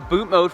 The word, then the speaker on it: BootMod3: Today we are very excited because we are going to show you how to upload a boot mode flash tune on your BMW F30 without removing the DME.